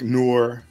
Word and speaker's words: noir: you can do like noir. I made a couple of I didn't do the thumbnails, but I made a couple images for the how you pronounce it, noir. Like the film noir.